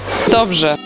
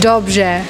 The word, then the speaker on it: Dobrze: Dobrze. What's that? Means good. Good? Yes. Dobrze.